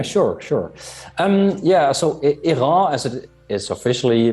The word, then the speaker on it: Airain: you would yeah sure sure um yeah so ira as it is officially pronounced but it's also often pronounced as i